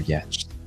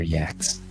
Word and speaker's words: yacht: these hyperars talk about their yachts, their yaks, however he said it. I was like, "Do you mean yacht?" Like that's not how you say it.